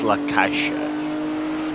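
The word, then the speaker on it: La Caixa: say um again okay fair uh it's it's lakasha yeah see if I practice that then I'll forget how to pronounce the snack and I'll go to the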